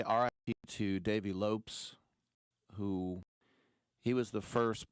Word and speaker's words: Lopes: Um, I want to say RI to Dave Lopes who he was the first person when I was a kid to realize that asset Portuguese. You don't pronounce it Lopez.